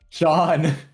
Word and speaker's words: Jean: You just have to say Gene. You are uncultured. That's crazy. Well, how do you pronounce it? John.